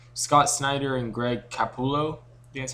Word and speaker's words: Capullo: the writer that it's scott snyder and greg cappulo that's how you say his name and they're